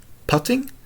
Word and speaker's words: putting: Pudding, puddle, putting, putting? Yes, at golf it rhymes with shutting.